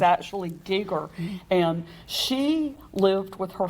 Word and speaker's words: Geiger: A lot of people pronounce it Geiger, but it's actually Geiger.